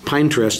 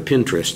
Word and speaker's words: Pinterest: in three or four different ones but uh pine trust is not one of the ones that i know about i i've but i have heard of pinterest so it's just the pronunciation thing that's a